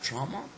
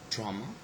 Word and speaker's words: trauma: the stress placement so we have got trauma trauma okay the first syllable is stress but when the suffix